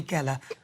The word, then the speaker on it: Geller: Rhymes with jelly, but it's not Uri Geller, it's Uri Geller.